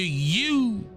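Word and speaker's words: Ewe: the kente came from the you people you e w e U that's of West Africa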